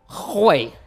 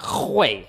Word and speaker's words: Hwei: All right, so we're playing Hwei. You gotta pronounce it like that, Hwei, okay? You gotta put like a little throat action, all right?